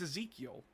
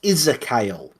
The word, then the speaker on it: Ezekiel: It's Ezekiel, right? No, it's not. Apparently, according to GW and all their effing audio books, it's Isakyle. I hate that. No, that's an E. That's not how you pronounce it.